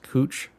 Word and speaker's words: Couch: street downtown called um it's spelled like couch but it's pronounced cooch street so it's it's little